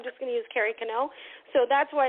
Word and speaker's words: Kennel: let's just use Carrie canel and I like canel otherwise the people always say kennel but it's not kennel it's canel um it's Canadian um